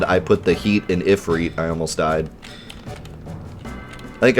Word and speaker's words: Ifrit: stole crap anyone else cringe the first time they heard Ifrit pronounced efreet no but when the guy from world of Final Fantasy said I put the heat in if read I almost died I